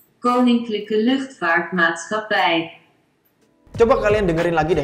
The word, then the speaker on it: Koninklijke Luchtvaartmaatschappij: Gua gak ngerti cara bacanya gimana, tapi kalau kata Google Translate, bacanya kayak gini nih. Koninklijke Luchtvaartmaatschappij.